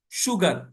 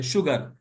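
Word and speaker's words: sugar: تھی بات، شیور پکا، شوگر، شوگر शीन की आवाज आएगी, एस यू है मगर शीन की आवाज है। शुगर, प्रेशर, प्रेशर दबाव, प्रेशर नहीं होगा, प्रेशर, प्रेशर कुकर नहीं, प्रेशर कुकर, प्रेशर कुकर।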